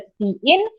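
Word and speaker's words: cin: Okay, it is pronounced as सी इन।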